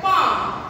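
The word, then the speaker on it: palm: তারপরে দেখো পাম, এখানে এনে হচ্ছে আমার সাইলেন্ট হবে, প্লাম বলবে না, পাম।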